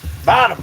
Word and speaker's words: Bonham: Bonham, B-O-N-H-O-M, Young John Bonham. He could be a young John Bottom Bonham, that's how you say it.